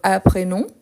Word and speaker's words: apprenons: Donc, apprenons, je ne prononce pas le S.